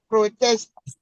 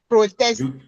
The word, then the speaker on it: protest: protest, No. protest, You stress the second one instead of the first one.